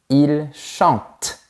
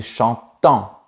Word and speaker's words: chantent: On ne prononce pas les lettres e n t quand on conjugue les verbes à la troisème personne du pluriel. Par exemple, on dit il chante et pas il chantant.